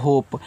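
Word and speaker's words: hope: के रूप में होगा और इस इ का उच्चारण नहीं कहना है तो देखो एच से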